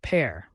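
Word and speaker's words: père: the family next is per meaning father pronounced pair like in English pair fathers often play a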